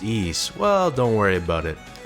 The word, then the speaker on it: Ys: Now you might be wondering, how on earth are the letters Y and S pronounced East?